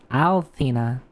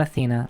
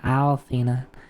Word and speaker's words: Althena: the world by resurrecting the ancient goddess Althena, not Athena, Althena with Luna and with Luna being a key element in the plan.